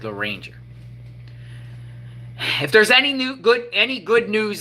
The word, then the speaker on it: Loranger: How do you say it? Loranger, Louisiana. Kind of sounds like Loranger.